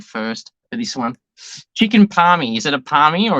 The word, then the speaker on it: parmi: Chicken palmy. Is it a palmy or is it something else? It's a palmy.